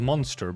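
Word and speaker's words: Mon3tr: A large obsidian crystallization in the shape of a monster burst forth between the two of them. And yes, it is typed M O N the number three TR. It is pronounced just monster.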